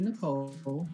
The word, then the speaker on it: Nichol: And so Nicole, it looks like nickel, but it's really Nicole.